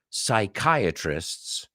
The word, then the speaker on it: psychiatrist: to the bathroom easy the p is silent no why don't you